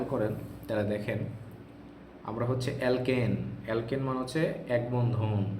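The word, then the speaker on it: alkene: যায় কিনা দেখেন ধরেন আমি এখানে লিখলাম হচ্ছে অ্যালকেন কি লিখলাম বলেন অ্যালকেন তারপরে কি লিখলাম বলেন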